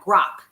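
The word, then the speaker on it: Grok: Grock. Yes, Grock.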